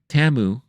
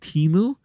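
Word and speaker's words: Temu: spots and that was TAMU which now I know how to pronounce it I used to be calling it teu but it's TAMU TAMU had multiple spots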